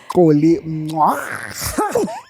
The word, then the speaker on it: Xolly Mncwango: Xolly Mncwango.